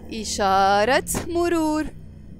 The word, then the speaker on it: إشارة مرور: And this T مربوطة, when it's followed by a noun, we pronounce it. So we will say إشارة مرور.